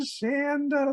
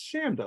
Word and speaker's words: Chanda: it's my dear friend Shanda like Panda I remember when I first met you and I pronounced your name incorrectly you said no it's Shanda like Panda and I was like